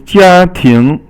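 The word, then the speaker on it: 家庭: Now the next one is 家庭. So 家 is first tone, and 庭 is second tone.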